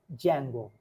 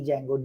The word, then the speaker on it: Django: offering is python plus Jango many people who have seen a python must have heard about something called Django it's not Django D is silent please don't say that in interview although you haven't meant